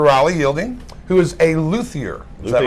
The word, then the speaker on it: luthier: dear friend Mr Riley yielding who is a luier is that right that's right did I pronounce that right I said it right hey